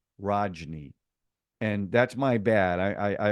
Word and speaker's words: Rajni: I was mispronouncing his name because when I wrote out my notes, I misspelled it. So I was calling him Ranji, not Rajni.